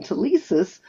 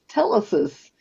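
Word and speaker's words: telesis: The word that he was calling tissusis was really pronounced tellesis.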